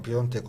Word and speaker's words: Piątek: Piątek de yazıyor ama Piątek okunuyor galiba Polonyalı futbolcu.